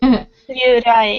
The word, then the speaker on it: Ryurai: Ryurai. That's how you pronounce it, right? Ryurai, yeah.